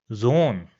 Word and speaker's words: Zone: So that's why it will also have a long sound. It will be pronounced as Zone.